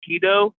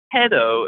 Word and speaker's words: Hedo: all the podcast so I kept saying like keto no I I I watched illegally uh maybe noov you could buy well someone shared it on Twitter and I just coincidentally just saw a little bit of the entire movie but um no Dr hedo is his name so I can't pronounce his damn name correctly it's hedo at least in the uh the English dub of the movie so not hedo hedo so anyways there's a